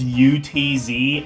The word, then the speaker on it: Utz: It's spelled U-T-Z, Utz.